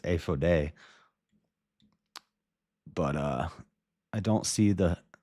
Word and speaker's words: ephod: I'm just going to speak in Hebrew because I know how to pronounce it. It's ephode.